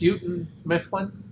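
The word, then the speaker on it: Houghton Mifflin: name on books your whole life but it's pronounced uten Mifflin so I always pretend it's a minimun my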